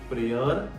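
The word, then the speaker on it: prayer: silent नहीं होता है सिर्फ तीन वर्ड है जहां पर वाई को बोला ही नहीं जाता जैसा फर्स्ट वर्ड है बियोंड प्रेयर एंड मेयर हमारा दूसरा रूल क्या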